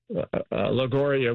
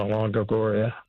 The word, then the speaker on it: Longoria: Well, I did look for uh uh Miss Lori uh Lagoria while I was in Barcelona. Okay. But unfortunately, I didn't get a chance to meet Eva Longoria.